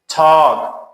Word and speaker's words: talk: Talk, صحبت کردن, L is silent.